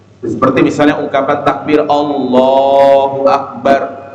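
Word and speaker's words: الله أكبر: seperti misalnya ungkapan Takbir Allahu akbar Allahu akbar maka yang harus dia panjangkan adalah kalimat Allahnya Allahu Akbar Allahu Akbar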